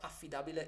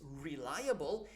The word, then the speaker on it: reliable: for reliable okay so the right pronunciation of feed a Bella is reliable and and then there